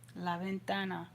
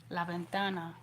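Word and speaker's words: la ventana: Lavventana. And like I said that V kind of sounds like a light B. Laventana.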